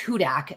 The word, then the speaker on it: Hudak: It's Hudak. It's like Hudak. Hudat, the Saints chant, so it helps.